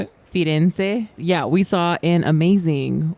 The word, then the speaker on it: Firenze: Firenze.